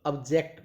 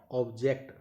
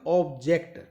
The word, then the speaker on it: object: तो ऑब्जेक्ट नॉट ऑब्जेक्ट, तो answer क्या रहेगा यहां पर आपका? एज a verb. चलिए नेक्स्ट, फिर यहां पर देखिएगा, what is that ऑब्जेक्ट? ऑब्जेक्ट, आप इसे ऑब्जेक्ट नहीं बोलेंगे, ऑब्जेक्ट, क्योंकि यहां